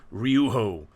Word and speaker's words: Ryūjō: here from Japanese carrier Rijo I think I'm pronouncing that right I think the J is technically kind of silent or you pronounce it like an H I don't know I'm